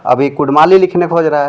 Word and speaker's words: कुड़मी: कुर्मी नहीं है, कुर्मी है उच्चारण। और ये झारखंड नहीं है, झारखंड होगा। क्या लिखेगा? कुर्मी, कुडमी। हाँ, कुर्मी, कुडमी या तो मतलब जो कुर्मी लिख रहा है नहीं, वो उचित नहीं है, वो संविधानिक नहीं